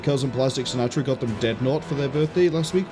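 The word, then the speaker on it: Deadnaut: way because it's um d e a d n a u t. Uh it's n as in astronaut but dead. So it's like deadn.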